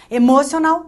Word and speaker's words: emocional: Emocional, também não mora. Emocional, também não. Emocional. A última sílaba é a sílaba tônica.